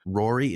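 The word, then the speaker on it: Ruairi: Tristan Harland as Fred, Gabriel Harland as George, Rory, it's spelled Ruari, Spooner as Percy, and Gracie Cochran as Ginny Weasley.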